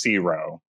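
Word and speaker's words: CIWRO: It's so much uh uh and it's pronounced zero.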